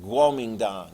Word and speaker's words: Guomindang: Although, as we saw, like Peking became Beijing, Nanking became Nanjing, Kuomintang, we look at it now and go, it's more accurately pronounced Guomindang, whatever.